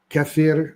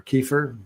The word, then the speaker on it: kefir: in kimchi in yogurt in cfir or kefir depends on your pronunciation and we also have